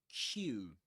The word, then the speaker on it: queue: Q Q just like the letter Q.